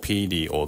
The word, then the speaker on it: period: アメリカ英語では、「r」の前にシュワーを付けないので、「seer-ee-us」と「peer-ee-ud」のように発音できます。